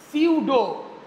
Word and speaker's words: pseudo: এই ধরনের রিয়াকশন গুলোকে আমরা বলি সিউডো পি এসই ইউডিও সিউডো first order reaction. এটাকে আমরা বলি সিউডো ফাস্ট অর্ডার রিয়াকশন। যেখানে পিটা তোমার সাইলেন্ট থাকে।